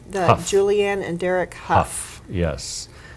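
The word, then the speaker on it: Hough: Huff.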